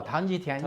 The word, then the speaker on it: Tang Jitian: There were a few that you mentioned by name, the first of which included Tang Jitian, and you can correct my pronunciation. Tang Jitian, yes.